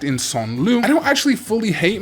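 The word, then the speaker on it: Sangloupmon: Then we've got what I call Sangloopmon. Technically, the pronunciation should actually be something like Son Lu, which is more correct for French.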